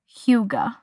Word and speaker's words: hygge: We are going to talk about the Danish term huga which is spelled h y g e.